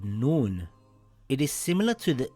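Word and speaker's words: نون: Noon makes a similar sound in English to the letter N in the word nose or the word nest.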